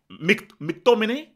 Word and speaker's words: McTominay: That's how you say his name. You can't say his. You have to sing his name. McTominay. You see, you go high and you go low.